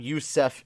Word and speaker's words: Yusef: Yusef is how to pronounce his name.